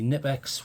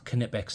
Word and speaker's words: Knipex: now it is the it's the nipex well knipex is the prop pronunciation and if you were